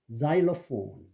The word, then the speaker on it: xylophone: 그다음에 이제 이 X는 특히 제한적인 숫자로 Z로 발음되는 거 있는데 Z는 xylophone, Xerox.